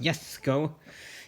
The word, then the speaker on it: Jesko: Koenigsegg hypercars here, the Jesko. Yes, I know it's pronounced Jesko in Sweden, but no, we're not doing that. So the J, not a Y, so the Jesko is a monster.